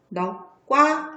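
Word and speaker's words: 넋과: 얘도 역시 넉인데 이 뒤에는요 소리가 넉과 이렇게 발음이 납니까? 넉과 이렇게 나죠. 지우고 이 안에다가 이 덕자처럼 보여서 다시 쓰도록 할게요. 자, 그래서 얘는 어떻게 해요? 기역으로 소리가 나서 넉과 이렇게 소리가 난다고 했어요.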